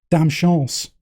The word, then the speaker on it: Dame Chance: You realise the song's actually called Dame Chance.